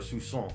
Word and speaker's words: soupçon: So there's as I said, a soupçon of a bunch of different movies in this, or a soupçon, as it were to say it correctly.